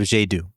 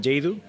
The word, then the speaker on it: Yaydoo: And pretty much the name is it means the pleasure of doing things, and is the combination of the expression yay, of happiness, and do, of doing.